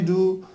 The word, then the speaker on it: do: اقول this is what I do when I do high kicks. بقول هذا ما افعله عندما وأدي الركلات العالية. It rhymes with you and to.